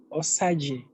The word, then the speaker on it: Osajie: It's pronounced as Osajie. Osajie.